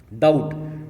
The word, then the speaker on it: doubt: डाउट, DOUBT डाउट, डाउट में silent है B।